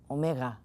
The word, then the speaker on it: Omega: so not just Oh English is Omega Greek sound maybe more like Omega there's something like marbles right in there that makes it sound slightly W ish Omega always long so